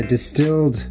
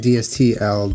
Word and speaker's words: DSTLD: uh this episode is brought to you by distilled jeans I pronounced it wrong last time I was saying dstl denim but it's wow Julian you're supposed to